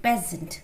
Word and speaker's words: peasant: Be careful about the word peasant. The pronunciation is peasant.